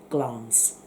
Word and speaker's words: Glamis: You spell it Glamis, but you pronounce it Glamis.